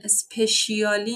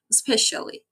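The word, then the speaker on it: especially: رو عقب نگه میداره اسپش تلفظ اینو خیلی بچهها اشتباه میگن اسپشیالی نیست دیکتش اینه ولی اسپشالی شلی اصلا شعا سخته شلی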